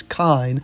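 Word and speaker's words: Kain: However, they both get personal invitations to a new King of Fighters tournament and information that the mysterious Kine, no, I'm not joking, that's how his name is pronounced, knows information about Rock's deceased mother Marie.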